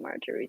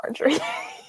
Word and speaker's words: Marjorie: I always pronounced it Marjorie in my head, but I always pronounce it Marjorie too. it's not Marjorie. Oh. It's Marjorie.